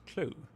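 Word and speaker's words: clew: Wait, how do you pronounce that? I would just say clue. Yeah, sure. Clue. Yeah, it's clue. Uh, what's that mean? Clue. Oh, it's pronounced clue.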